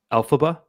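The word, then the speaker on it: Elphaba: And Olive is being I should know how to pronounce this because it was like the biggest movie ever. Alphaba.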